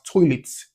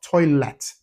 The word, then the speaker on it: toilet: So all of these words, toilets, market, the letter E are the last syllable of these words should be pronounced as the E sound. So that's toilet, market, not toilet, not market. No, it should be you should pronounce it as toilet and market.